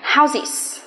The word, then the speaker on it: houses: Bình thường chúng ta phát âm là S, nhưng khi thêm ES nó sẽ thành houses. Houses. Houses. Nó sẽ thay đổi cách phát âm đi.